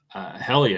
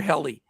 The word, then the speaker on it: Hjelle: Helly, I think. Helly? Mm-hmm. The J silent? Silent, yeah. All right, we'll try that. So Mr. Helly at 5.8K for the Giants.